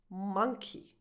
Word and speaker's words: monkey: And since we're here, this animal is pronounced monkey. Monkey.